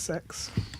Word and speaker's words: CeX: I asked them how it's pronounced because I've been saying CEX for ages. It's like sex.